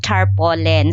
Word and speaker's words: tarpaulin: Tar tar tarpolin kasi ung pronunciation ko noon ng tarpolen. So checking on the camp bridge pronunciation that should be tarpolen.